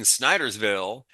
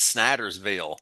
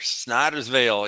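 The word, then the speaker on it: Snydersville: He a young man from a nearby small town in Sniderville. He happens to Sn You have to say it like this. Snider's Veil. Sniderville. Snider Veil. Sniderville. Snider's Veil.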